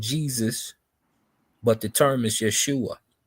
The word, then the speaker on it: Yeshua: I don't know how to pronounce Yeshua.